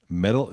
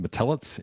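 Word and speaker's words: Metelits: In 1960, she marries a teacher, a guy named Melvin Metal. I believe it's pronounced Matellet, Mli T-S.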